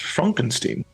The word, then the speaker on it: Frankenstein: Frankenstein. Frankenstein. You're putting me on. No, it's pronounced Frankenstein. Do you also say Froderick? No, Frederick. Well, why isn't it Froderick Frankenstein? It isn't. It's Frederick Frankenstein.